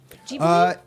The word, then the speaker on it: Ghibli: It's a hard G, by the way. FYI, everybody. Ghibli?